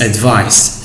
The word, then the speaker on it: advice: from his teachers okay advice as a noun must be pronounced with c sound not with other sounds now let's move on